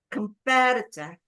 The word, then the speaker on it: competitor: Competitor. Four. Four. Four. Four. And the stress is on the competitor.